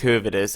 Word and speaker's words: Höwedes: that Höwedes, or Benedikt Höwedes, I'm gonna pronounce him in a German way, of course, does have a buyout clause of, let me just double check, 17.5 million euros.